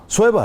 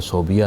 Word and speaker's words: صویبہ: اچھا یہ تلفظ صویبہ ہے کہ صوبیہ؟ صویبہ ہے. اچھا لیکن جتنی کتب ہیں اس میں تو بے پہلے آتا ہے. جی یہ عام طور پر پڑھا جاتا ہے صوبیہ. اچھا اصل تلفظ صویبہ ہے.